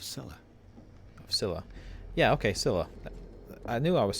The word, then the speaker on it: Scylla: Yeah, okay, Scylla.